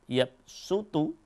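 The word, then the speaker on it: يبسط: lahuanallahu pada qiroah asim kalimat yab sutu yang tulisannya Shad dibacanya dengan Sin maka hampir semua mushaf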